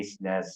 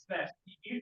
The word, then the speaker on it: SNES: There was like someone at MagFest selling like a tiny SNES version that had like I don't know how